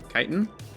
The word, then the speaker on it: chitin: Chitin? I guess I probably chitin. Yeah. We'll just go with chitin.